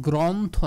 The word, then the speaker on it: গ্রন্থ: রয়েছে র ফালা গ্র এইজন্য এটার উচ্চারণ গ্রন্থ না গ্রন্থ মানে স্বরে অ এর উচ্চারণটা হয়ে যাবে ও গ্রন্থ না গ্রন্থ ব্রত